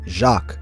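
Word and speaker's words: Jacques: pronounce Travis's real name in French it's jacqu which is where the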